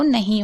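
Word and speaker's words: know: या यहाँ पर भी देखिए K के बाद N है तो K साइलेंट है। हिंदी में पढ़ के समझ लीजिए, नो, यानी नो में भी आप देख रहे हैं यहाँ पर K को नहीं पढ़ा जा रहा है।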